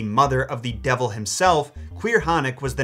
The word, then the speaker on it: Caorthannach: Caorthannach, yes, that's really how it's pronounced, has gotta be one of the scariest creatures in Celtic folklore, which makes her obscurity all the more tragic.